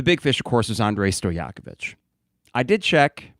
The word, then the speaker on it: Andrej Stojakovic: Even though there is a J in the name, it is typically silent in terms of pronunciation. So it is Andrej Stojakovic, son of, for NBA basketball fans of a certain age, Peja Stojakovic.